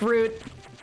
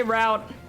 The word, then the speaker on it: route: i don't know why i switched to pronouncing it like root i usually say route that just happened like